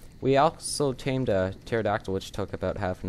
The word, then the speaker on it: pterodactyl: Petrodon, or pterodactyl. Sorry, the P is silent.